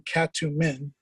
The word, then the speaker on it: Katumin: And one of the Egyptian pronunciations of Yaret is cat. It's the first part of the name Katumin, and Joseph Smith pronounced it Katumin.